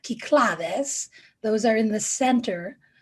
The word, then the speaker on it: Cyclades: Now, these islands in the middle, Naxos, Mykonos, Tinos, these are in, well, we would say Cyclades, but the Greeks pronounce that Kyklades.